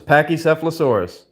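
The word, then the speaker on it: Pachycephalosaurus: But it's Pakisphilosaurus. I think it's spelled P A C H Y C E P H L A S A U R U S.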